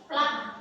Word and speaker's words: plugged: Yang pertama namanya ini tulisannya plugged tapi bacanya bukan seperti itu. Ini bahasa Inggris bacanya plug.